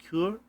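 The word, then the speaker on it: cœur: It's pronounced cour.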